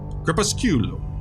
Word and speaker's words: Crepusculum: Crepusculum. That's how you say it. How do you spell that?